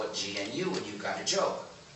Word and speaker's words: GNU: name of our system please do not follow the dictionary you've got to pronounce it right pronounce it gnu if you pronounce it new if you talk about